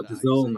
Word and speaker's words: DAZN: Oh, DAZN apparently is how you say it.